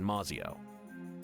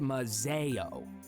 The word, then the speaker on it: Maio: letter from the Thorns back in maio uh it's actually pronounced Mazo God Off With His